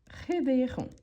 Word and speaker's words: réveilleront: Ici, on ne prononce pas le S et ici, on ne prononce pas le T.